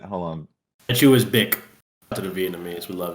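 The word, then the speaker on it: Bích: I think that's pronounced bick.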